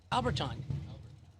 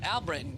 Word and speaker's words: Albritton: Alberton. Gotta pronounce the O-N, don't you? Oh, Albritton.